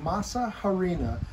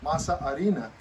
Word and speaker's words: masa harina: flour but it's called masa harina that's not how they say in spanish because the h is silent masa arena is what it means